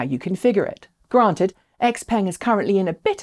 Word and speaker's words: Xpeng: sticking with chinese brands x-peng and yes that is the official western pronunciation of the company's name xiaopeng has just loaded